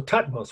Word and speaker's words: Thutmose: So Thutmose was his name. That's T-H-U-T-M-O-S-E, if you want to write it. You could just spell it how it sounds.